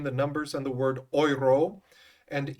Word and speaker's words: euro: numbers and the word oyro and e-u-r-o is pronounced in French everyone try saying that oyro so yro grow that